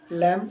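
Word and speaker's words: lamb: रहे हैं नेक्स्ट है आपका एल एम बी लम इसी में इसी तरीके से है लम मेमना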